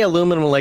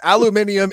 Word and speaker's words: aluminium: why do they say aluminum Americans though it's like I know right I mean it's the only word I agree with the British with aluminium is objectively a better pronunciation of the word objectively yep God a